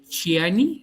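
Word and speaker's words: Xi'an: Bueno, pues básicamente fue en el año de 1974, cuando en la pronuncia de Xiani, China, de Xiani, así se pronuncia, de la provincia de Xiani, dos hermanos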